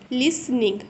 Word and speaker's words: listening: अगर इसको हम पढ़ते हैं लिसनिंग, टी को टोटली इग्नोर मानना है, ऐसा समझो कि टी है ही नहीं इसमें। ठीक है। लिसनिंग। बट जब हम लिखेंगे ना तो हमें टी लिखना पड़ेगा। ठीक है। टी इसमें हमारा साइलेंट है।